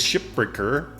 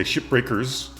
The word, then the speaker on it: Shipbreaker: So yeah, I want to learn more about Hardspace Shipbreaker, which is an interesting name. I've heard a lot of people say it wrong, and they say shipbreakers.